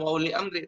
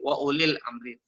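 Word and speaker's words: وَأُولِي الْأَمْرِ: Ya, bukan wa uli amri tapi wa ulil amri.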